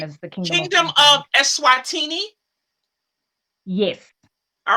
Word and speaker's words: Eswatini: 11 p.m and um i think you've got the pronunciation right it's the kingdom of esswatini so commonly known as the king kingdom of essuatini yes all right you